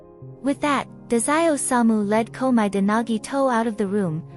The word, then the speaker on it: Komaeda: Over there, they've got a real troublemaker whose last name is pronounced Komaeda.